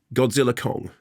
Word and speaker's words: Godzilla x Kong: just I'm just saying so the ex is silent as in yes and